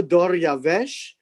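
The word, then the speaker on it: דָּרְיָוֶשׁ: that the name that i have given you doryavesh is very much the the pronunciation of the persian word and so darius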